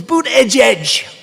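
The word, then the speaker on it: Buttigieg: I think it was boot edge edge boot edge edge they said think of it as boot and then edge edge because nobody can pronounce this guy's name oh but boot edge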